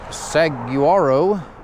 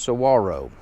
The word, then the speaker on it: Saguaro: mile Grenadier cross country Trek I am at sawaro National Park it looks like Saguaro but it is pronounced pronounced Saro and so this is a continuation of day